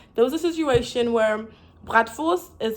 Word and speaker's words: bratwurst: You know, so I got so used to saying like the German pronunciation that I just did the German pronunciation. And then like this guy kept correcting me. He's like, yeah, he kept correcting me. He's like, yeah, that's not how you say it. You have to say it like that. And I'm like, well, but the German actual way of saying it is bratwurst.